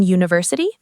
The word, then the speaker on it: university: U is a vowel, so an university? Good test, but no. We say a university because when you say university, the sound at the beginning is you, like the letter y. That's a consonant sound.